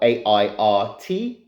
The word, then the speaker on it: airt: So first of all, I'll explain what the word Airt means, which is spelled A-I-R-T, Airt.